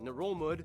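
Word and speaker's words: Ngerulmud: If you include smaller rocks and islets, the largest one being Babeldaw Island, which holds the capital Melekeok, or Nurulmud, yeah, that's how you pronounce it, which is the least populated capital in the world with only about 400 people.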